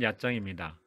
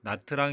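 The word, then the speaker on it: Nha Trang: 여행 하기에 적당한 여행지입니다 다음은 야 짱입니다 한국에서는 영어식 발음으로 나트랑 이라고도 알려져 있기도 합니다 약장 은 베트남 주여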